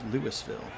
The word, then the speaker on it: Louisville: Goro now in his second season out of Louisville, sometimes pronounced Lewisville.